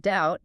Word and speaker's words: doubt: They shoved a C into indict and an L into balm, and they had absolutely no intention of changing the pronunciation. We still say them the French way, but they permanently altered